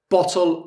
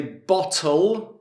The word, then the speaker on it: bottle: Bottle of beer. Now, the only difference in our pronunciation is the double T. In British, we would say bottle or bottle with the glottal T.